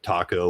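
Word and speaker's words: THAC0: Are we going to come to blows about how to pronounce it? Thaco, taco, whatever the fuck you want to say. Thaco. That's what I've always called it, Thaco, because that's how I was raised with it. So you pronounce the A how you want, sir, but just make sure you're using it.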